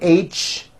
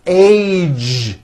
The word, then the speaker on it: age: throughout the whole word age it's not H it's age with a Voice ending College postage stage pledge